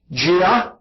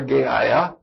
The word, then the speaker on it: Gaia: Gaia, some people pronounce it that way, or Gaia, which means earth.